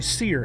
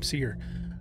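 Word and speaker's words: Cere: series Padawan are actually seer and that's how you pronounce her name seer seer shares an awful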